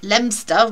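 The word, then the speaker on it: Leominster: um and of course there is lemster which is if you pronounce it properly it's Leo Minster and then there's um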